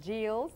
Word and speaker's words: Geills: your first name please it's g e i l LS and how do you pronounce it it's called JS and it's G you